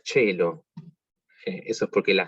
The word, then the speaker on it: caelo: Que la palabra caelo, como se pronunciaría originalmente, se pronuncia cello. Eso es porque la C, para los que saben italiano, sabrán que la C con E o I se pronuncia ch.